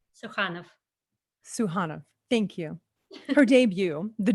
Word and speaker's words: Sukhanov: The Dream Life of Sukhanov. I'm sorry, I said it wrong. That's okay. Sukhanov. We went over this earlier. Say it for me. Sukhanov.